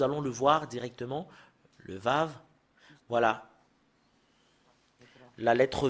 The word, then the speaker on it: Vav: Le Vav, voilà. La lettre V. Voilà, la lettre V, c'est Vav, ou c'est V qu'on le prononce.